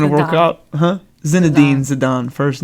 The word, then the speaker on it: Zinedine: Zinedine Zidane.